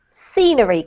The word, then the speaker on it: scenery: In scenery, Carolina. Scenery. Brilliant. Well done. Scenery. I know those ones are tricky for Spanish speakers, right? Starting a Yes. word with an S.